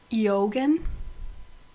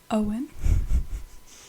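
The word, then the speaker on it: Eoghan: Eogan. Owen.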